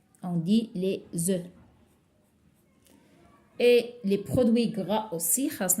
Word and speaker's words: œufs: Au pluriel, je ne prononce pas le F. Je vais dire des œufs. Alors, je ne prononce pas le F. On dit les œufs.